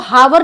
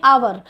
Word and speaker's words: hour: यहाँ H silent रहता है तो इसको हावर नहीं पढ़ेंगे, इसलिए हम इसमें भी यूज़ करेंगे एन का।